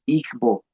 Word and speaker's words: Igbo: Sin embargo, igo, en igonante que no tenemos nosotros disponible, es una especie de nasalización, se pronunciaría como una suerte de i o, o sea, es es distinto.